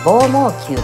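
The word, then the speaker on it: 棒網球: 正解はラクロス、棒毛球と読みます。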